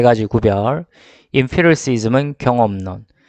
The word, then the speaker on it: empiricism: empiricism. EM P까지 들어가는 거는 emp라고 읽어주시고, 그 다음에 뒤에 또 한 번 더 우리 음악을 생각합니다. 피리, 그렇죠? 피리, 그렇죠?